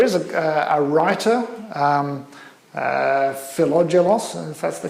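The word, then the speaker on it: Philogelos: jokes so there is a writer um uh philadelos that's the correct pronunciation tonight who assembled what was arguably the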